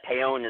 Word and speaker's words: Paone: I would say, though, that Paone is probably the most common mistakenly way to say my name, but it's actually pronounced Paone because in Italy, in Italian, they